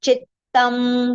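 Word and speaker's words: चित्तम्: Both the ths should be heard clearly. If you say chittam, then one th we miss, right? So that will not be the correct pronunciation. So half the we are going to take with chi. So chittam. Okay.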